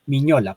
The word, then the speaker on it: Mignola: pues a veces, digamos, lo nombran como Mignola, pero realmente, pues muchos, y sobre todo, pues en el lenguaje estadounidense le pronuncian Miñola, porque la G y la N, pues son como la contracción de la N.